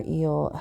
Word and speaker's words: EEL: If you want to dive deeper, I invite you to join our EEL Health and Wellness app. E at symbol L, pronounced eel like the electric eel in the ocean.